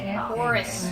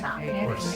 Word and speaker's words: hoarse: Horus. Horse.